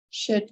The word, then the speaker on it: should: Again, we don't pronounce the letter L, could have, should have, and might have, right?